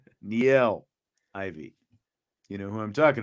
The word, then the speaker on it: Niele Ivey: He is speaking of Niele Ivey, not Niele Ivey. Niele Ivey.